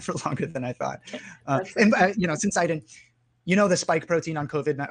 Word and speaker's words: syncytin: I've heard it pronounced a bunch of different ways, but syncytin is how I like to pronounce it.